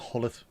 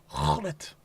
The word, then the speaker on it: Gullit: At least I can say Ruud Gullit, not Hullet. I used to hate that. People call him Ruud Gullit. It's not Hullet. Gullit.